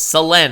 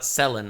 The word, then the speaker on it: Selen: that being Salen tasuki it's Salen I guess not selin I always pronounce it